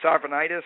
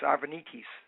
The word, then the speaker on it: Arvanitis: your last name sure if it's um anglicized it's arvanitis and if it's uh more in the Greek flare it's arvenis all right what well